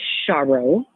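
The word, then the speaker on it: Charo: to spell it so CH a ro it's pronounced char Oh like Charles the singer uh there's a famous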